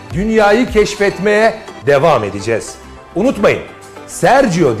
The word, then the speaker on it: Sergio: Unutmayın, Sergio diye okunur, Sergio diye yazılır.